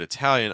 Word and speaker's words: Italian: briefly about like ital notice that Italy you're stressed on the first syllable Italian you're stressed on the second syllable um you have this